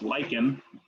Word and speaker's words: lichen: eukaryote third is lichen that's pronounced lycan lichen some people pronounce it lichen but it's not legend it's lichen um the